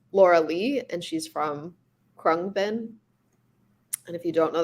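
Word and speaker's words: Khruangbin: her name is laura lee and she's from krung bin and if you don't know that band they're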